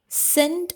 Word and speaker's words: scent: The predators follow the scent or scent. Both are same pronunciation.